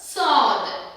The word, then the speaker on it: sword: அப்படி நம்ம வாசிக்கிறதுல answer sword sword swordல sword அப்படி நம்ம சொல்ல மாட்டோம் sword that is the right pronunciation இங்கேயும் வந்து r வராட்டியும் r controlled word வந்ததுனால here w becomes silent these are some exceptions